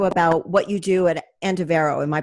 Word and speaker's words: Andivero: um actually also about what you do at antavero am i pronouncing that properly yeah yes so tell me